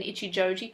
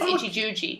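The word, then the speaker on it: Ichijouji: And later on, next scene, we find out that Yoli can't pronounce Ken Ichijoji correctly. She says Ichijuji.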